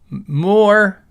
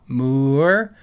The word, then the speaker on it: MOOER: Uh so so you guys know, MOER is is pronounced like moo, like a cow, MOER.